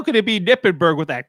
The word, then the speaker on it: Knippenberg: It just has a K in front of his name. So Kippenberg to me or something. well the word knife also has a K in front of it, Mott.